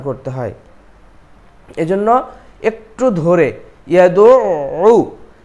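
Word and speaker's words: يَدُعُّ: এরপরে ফাযালিকাল্লাযী ইয়াদউ, এখানে আইনের উপরে তাসদীদ আছে, একটু শক্ত করে উচ্চারণ হবে।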